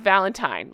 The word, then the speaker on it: Valentine: I knew somebody named Valentine And so I always pronounce this wrong. I apologize for the 100 times I'm going to say Valentine. I'm thinking of my friend. It's Valentine. Let me try that again.